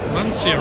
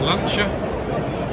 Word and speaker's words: Lancia: We've also got Lancia or Lancia, depending on how you'd like to pronounce it, where you are in the world.